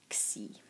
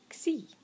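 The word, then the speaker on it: ξ: And for the palatals, kappa, gamma, and chi, these combined with sigma form the letter xi and are pronounced x.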